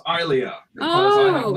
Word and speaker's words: Ilia: apparently I pronounced it wrong. It's Ilia because I have not seen that.